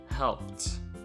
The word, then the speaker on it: helped: And helped, it's pronounced as t, helped.